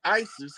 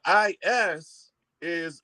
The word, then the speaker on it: Isis: And when they wake up, they call back Isis, Queen of Heaven and Earth. What's the first syllable of that name? Right. The first syllable, not letter. Is that Ice? Ice? Okay, Ice. No, Ice.